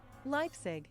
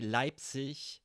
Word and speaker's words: Leipzig: is words like this when a German word ends with I and G. Many people would pronounce it as ich, Leipzig. But you actually say Leipzig at least when you work as an actor on the stage or on television, or a professional speaker would pronounce it ich. So Leipzig is actually the very correct word, Leipzig, because it sounds a bit more softer, smooth. Leipzig.